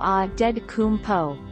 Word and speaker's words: Antetokounmpo: His last name is Nigerian, so the T-S in his name should be pronounced as D-S. This would make the pronunciation of Antetokounmpo Adedokounmpo.